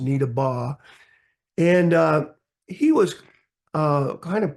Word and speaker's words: Needabeh: Now, it's spelled, if you looked at how it's spelled, it's Needabeh, B-E-H, but it was pronounced Needabeh.